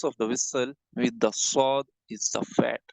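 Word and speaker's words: ص: Take this part of the tongue here and start pronouncing with me, sword. Visualize this part with your tongue and start saying with me, sword, please.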